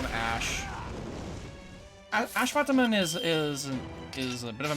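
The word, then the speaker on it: Ashwatthama: him Ash is because the S I believe is supposed to be pronounced the sh sound, not a at, not an at like S. It's a sh noise. Hence why I keep calling him Ashvataman as opposed to Asvataman.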